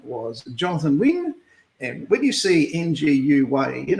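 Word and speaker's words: Nguyen: His name was Jonathan Wynne. And when you see NGUYN, it's pronounced Wynne.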